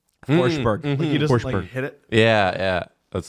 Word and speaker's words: Forsberg: Riad ra see how see how forsberg doesn't really pronounce the g forber hit it yeah yeah